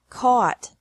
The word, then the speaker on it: caught: This can be spelled O-U-G-H-T or A-U-G-H-T, but the pronunciation is the same. Bring, brought, brought. Buy, bought, bought. Catch, caught, caught. Fight, fought, fought. Seek, sought, sought. Teach, taught, taught. Think, thought, thought. Remember that the G is silent in these verbs.